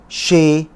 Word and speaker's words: chez: enchanté، chez وهنا الزد ne se prononce pas، a، c'est، oui، non، il y a، dans، qui est، qu'est-ce qu'il fait.